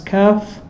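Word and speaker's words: كاف: So you pronounce it as kaf. So the kaf is ak, and the qaf is aqqa, ak, little bit before.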